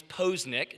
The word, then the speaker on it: Poznich: say his last name is it pause pose nick nitch let me give you a couple little little helpers here my last name is posnick posnick if you